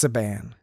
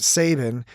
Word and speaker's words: Saban: That's Saban. Is it Saban? Well, I always in my head pronounced it Sabin, but this guy spelled like Sabin, right?